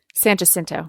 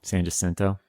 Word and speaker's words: San Jacinto: to say it san just san jacinto san jacinto that's how texans say in san jacinto yeah that's how it's said in spanish in spanish and that's correct in spanish texans have see this